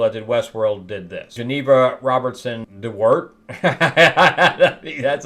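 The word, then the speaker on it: Geneva Robertson-Dworet: same two people that did Westworld did this Geneva Robertson Dart that's how you say it she created this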